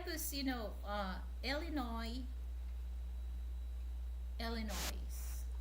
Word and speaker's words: Illinois: Illinois Frank you know when I hear somebody says Illinois and then I hear uh Illinois which one is you know the correct pronunciation as long as you say it either way people will understand what it is but it's Illinois.